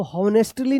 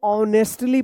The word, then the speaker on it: honestly: चलिए अब यहाँ पे देखिए HONESTLY, इसको हॉनेस्टली नहीं, इसको ऑनेस्टली पढ़ेंगे। क्या पढ़ेंगे? ऑनेस्टली। यहाँ पे एच साइलेंट होगा, इसका उच्चारण नहीं होगा, ठीक है।